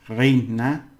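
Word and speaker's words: reina: a or in English e and i e and y a r all right Ray Raina and the ray that's queen and king Raina Ray the SP he's called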